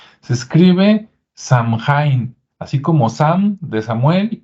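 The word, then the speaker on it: Samhain: aquí un acordeón que se escribe de una manera pero se pronuncia de otra se escribe Sam hain así como Sam de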